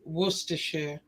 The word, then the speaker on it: Worcestershire: tripled them and uh and it added like Worcestershire sauce and um uh something else aside okay all right Angel wow it's pronounced Worcestershire yeah I know I know you ever hear